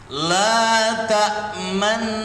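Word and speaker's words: لَا تَأْمَنَّا: La ta'manna. Cara membacanya begitu.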